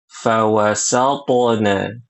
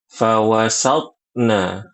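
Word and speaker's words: فوسطن: Kemudian ibu-ibu di ayat yang kelima perhatikan di situ huruf tho sukun harus qalqalah fawasna. Jangan baca fawasatna.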